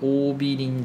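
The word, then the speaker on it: 桜美林: 大学あってますオビリ大学って読むのかなうーん読み方オビリ大学あ合ってましたねオビリ大学っていう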